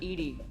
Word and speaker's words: EDI: why are you named edie that's the phonetic pronunciation of edi that is an acronym